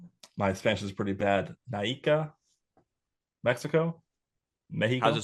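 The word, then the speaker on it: Naica: Naika, Mexico. Mexico. How's it spelled? N A I CA. You nailed it. Hell yeah. All you have to do is pronounce all the letters.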